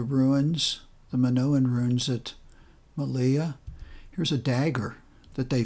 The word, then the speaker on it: Malia: coast again over to the east this is pronounced malia once again a minoan earns large urns and